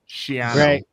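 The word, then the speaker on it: Schiano: to say it correctly shano yeah great shano Sho rhymes with piano we all been mispronouncing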